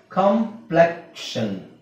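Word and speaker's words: complexion: ಇಲ್ಲಿ ಕ್ಷನ್ ಕಾಂಪ್ಲೆಕ್ಷನ್ ಕಾಂಪ್ಲೆಕ್ಷನ್ ಕಾಂಪ್ಲೆಕ್ಷನ್. ಸೊ ನಿಮಗೆ ನೋಡಿ ಟಿಐಓ ಎನ್ ಬಂದ್ರು ಶನ್ ಅಂತ ಆಗುತ್ತೆ ಅಲ್ವಾ ಐಓಎನ್ ಬಂದ್ರು ನಾವು ಶನ್ ಅಂತ ಹೇಳ್ತೀವಿ. ಆದ್ರೆ ಇಲ್ಲಿ ಕೆ ಫಸ್ಟ್ ಬರಬೇಕು ಇಲ್ಲಿ ಕ್ಷನ್ ಕ್ಷನ್ ಇಲ್ಲಿ ಕ್ಷನ್ ಅಂತ ಆಗುತ್ತೆ ಕ್ಷನ್ ಈ ಕ್ಷನ್ ಬೇರೆ ಈ ಕ್ಷನ್ ಬೇರೆ ಕಾಂಪ್ಲೆಕ್ಷನ್ okay next sexual sexual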